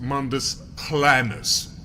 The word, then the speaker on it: Mundus Planus: it's pronounced Mundus Planus, actually.